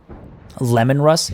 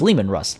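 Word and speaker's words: Leman Russ: Lemon Russ? It's Lehman Russ.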